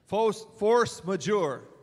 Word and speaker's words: force majeure: in just a moment Force Major and I did Google it that's the correct way that they pronounced it so by way of